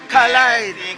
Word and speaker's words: collide: See, I have to correct these guys and tell these guys, collide. It's collide. Collide. You gotta pronounce the D, collide.